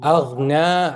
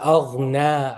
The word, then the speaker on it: أغنى: So the syllable, there are two syllable long, two haraka long. Aghna is one syllable long. Aghna. This one is one syllable. This is wrong. This, you need two syllables. Noon and then alif.